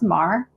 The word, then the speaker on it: Maher: No, you got jumbled up because listen, no one pronounces my last name right, literally ever. It's it's Maher. It's Maher, like the Maher, but not related.